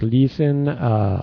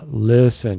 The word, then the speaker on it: listen: Jorge another one is listen you need to shorten your try to shorten your vowel and stuff saying like listen listen short vowel Liz and listen that's much better Chinese yeah that